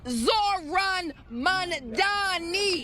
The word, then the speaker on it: Zohran Mamdani: His name is Zoran Mandani. You got to say with all of the syllables for those who still get it wrong and someone who understands